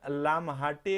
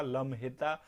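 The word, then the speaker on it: लम्हेटा: तो India will build in लामहाटे, एक जगह है जबलपुर मध्य प्रदेश में, लम्हेता, अगर इसको शुद्ध उच्चारण इसको पढ़ें तो इसका ये होगा लम्हेता।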